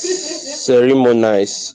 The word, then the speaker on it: ceremonize: Okay, You pronounce it as ceremonize. Is that the correct pronunciation? The word ceremonize? Yes. Yes, that's it.